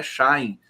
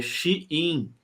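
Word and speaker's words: Shein: aqui diz que e a pronúncia da da empresa de vendas chinesa não é Shine é xin xin deixa eu colocar aqui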